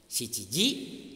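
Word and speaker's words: 七時: Harus diingat 7 dalam bahasa Jepang itu kan ada 2, ada shichi, ada nana. Tapi untuk jam sendiri pengucapan jam itu pakainya shichi.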